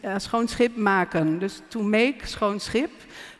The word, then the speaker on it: Schoonschip: Schoonschip. Schoonschip. It's a beautiful word. It's actually a saying. It's schoonschip maken.